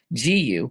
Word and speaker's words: Jiyu: And that is exactly why I've started using GU Skincare. And honestly, I'm obsessed. It is amazing. It is spelled Jiyu. It's pronounced GU.